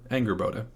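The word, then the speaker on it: Angrboda: fenrir is his mother anger boda or anger boda if you're particularly anglo in your pronunciation so anger boda is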